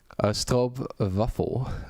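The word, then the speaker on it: stroopwafel: Maybe that's on me or like I think that's very very slippery slope, but like the stop vafuffle Dutch pronunciation is the only correct way.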